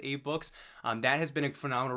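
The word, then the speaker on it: AbeBooks: books, is Abe Books, ABE, I believe it's pronounced Abe Books.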